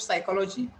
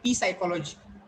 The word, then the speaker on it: psychology: Or if you know the spelling of psychology, PSYCOLOGY. PSYCHOLOGY. Psychology. So you should not call it p psychology.